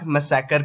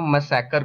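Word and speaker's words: massacre: इसी को हम लोग जलियांवाला बाग मसैकर के नाम से जानते हैं। अब गवारों मसाकर को मसैकरे मत पढ़ लेना वरना क्लास में भरी महफिल में बेेज्जती हो जाएगी। सो इसको मसकरे नहीं मसाकर बोलते हैं।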